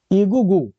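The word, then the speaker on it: Egwugwu: डब्ल्यू को silent कर लीजिए। हम ठीक है? तो ईगू ईगू ईगुगू जो ईगुगू जो है एक प्रकार के ये कौन लोग थे?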